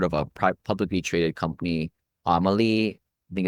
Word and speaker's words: AMLI: A good example of these Class A luxury properties as rentals, if you've heard of a publicly traded company, Amelie, I think it's spelled AMLI.